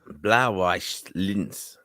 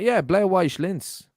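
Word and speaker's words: Blau-Weiß Linz: Martin, do you want to pronounce this one? Go on, go for it. Blauweiss Linz. That was very good. Actually, that's actually it. No, that's actually it. Showed me. What's it is? Well, Blauweiss Linz.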